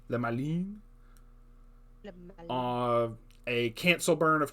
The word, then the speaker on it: Le Malin: Le Malin? That's how it's pronounced. Le Malin.